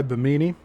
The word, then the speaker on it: Bimini: Heading toward nearby Bimini or Biminy. I think the pronunciation's biminy.